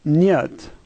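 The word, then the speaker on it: нет: The H in Russian is pronounced like an N, and the E is yeah, and the T is like T, and so this word is niet.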